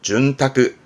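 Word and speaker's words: 潤沢: 그러니까 이 많이 쓰는 별은 아니라 쓰는 게 이게 윤택한 이게 윤택 발음은 준타크 준타크 요거 어떨까?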